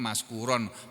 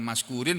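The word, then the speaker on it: مشكورا: Wa kana sa'yukum mashkura, karena khobar kana hukumnya mansub, dia mansubun bil fathati, mansub dengan huruf fathah, makanya membacanya maskuron, bukan maskurin, bukan maskurun.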